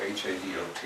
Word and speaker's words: Hadot: not heard of, Pierre Hadot, H-A-D-O-T. You know, French never pronounce their consonant you don't have to pronounce. So just leave off the initial H and the final T.